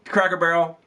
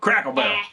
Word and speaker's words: Cracker Barrel: So, took them to Cracker Barrel. And from there, we drove to Kokomo. You finally said it right. You've been saying Cracker Barrel like you're all huppity-huppity. You just called it Crackle. Crackle Barrel.